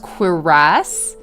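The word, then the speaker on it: cuirass: And so in the process, we learned that this word is pronounced quiras.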